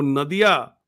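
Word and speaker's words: নদিয়া: नदिया हिंदी में उच्चारण होगा, बांग्ला में हम लोग कहते हैं नोदिया।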